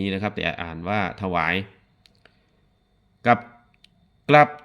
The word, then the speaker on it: ถวาย: ถวาย ความ เคารพ หรือ ถวาย คำ นับ นะ ครับ ถ หวาย เขียน อย่าง นี้ นะ ถ อะ ถะ ออก เสียง อะ นิด หน่อย แต่ ไม่ ปรากฏ เสียง อะ นะ ครับ หอ นำ